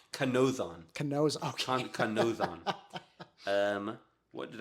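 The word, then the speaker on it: Kanōzan: Kanzo on being the Well, name of our podcast. I pronounced that kind of silly. It's Okay. Kanzo-on. Okay. Or, sorry, no, I just pronounced it entirely wrong. Kanozon.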